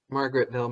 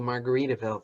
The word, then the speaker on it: Margaretville: Even like your really bad books, even the first one where I pronounced Margaretville, Margaritaville through the whole book.